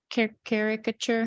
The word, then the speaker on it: caricature: Caricature.